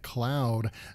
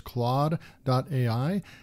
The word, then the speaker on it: Claude: this tool is pronounced Cloud would definitely not be spelled the way that it is up here this is more like Claude there's Jean-Claude Van Damme